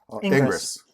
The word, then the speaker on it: Ingres: Ingres. People will tell you, by the way, that it's pronounced differently. Don't listen. Don't listen. They are the French supremacists.